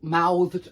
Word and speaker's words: mouthed: saying these two by saying something like he mal mouthed me the answer with his mouth and of course he